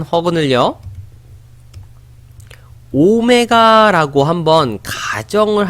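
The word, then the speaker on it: ω: 어 이렇게 양 문자라고 알아두시면 될 것 같아요 오메가 라고 읽어 주시면 되구요 1 허그 늘 오메가 라고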